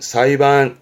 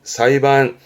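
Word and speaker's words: 裁判: 발음은 사이반. 사이반.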